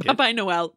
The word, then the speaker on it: Papai Noel: pronounced more Portuguese than I did. Papai Noel, but Portuguese.